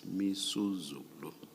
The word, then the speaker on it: Misuzulu: I mispronounced the king's name. It's Misuzulu.